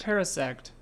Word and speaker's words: Parasect: Parasect. Pronounce Paris like the city and sect like the religion.